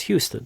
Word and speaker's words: Houston: And there's many more words, How do you say Houston or Houston? Well, if you're in New York City, it's a regional dialect. It's a Houston Street. But if you're in Texas, it's Houston, the largest city in the state of Texas.